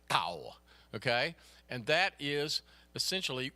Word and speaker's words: Tao: do the diphthong, but it's basically D and T kind of rolled together, Tao, okay?